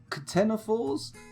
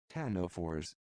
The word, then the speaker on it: ctenophores: And, Ctenophores. Ctenophores. Ctenophores. Okay, I was almost right. Put a bit too much emphasis on the "k."